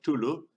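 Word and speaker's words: Cthulhu: y la t eh básicamente lo vamos a llamar tulu porque según decía lacra el aparato fonador humano era incapaz de pronunciar ese nombre es un ente un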